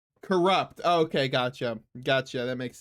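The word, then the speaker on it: Cxrupt: Welcome in. How do you say your name? Corrupt.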